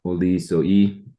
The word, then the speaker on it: Olizoi: And then a second one, I'll just mention two for now, Olizoi, or as it's pronounced properly in Greek, Olizoi.